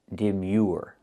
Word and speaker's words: demure: And the last word is demure. With this word, we see the e sound plus the uh like in food and the r. Deure. Your Demure and the stress is on the second syllable.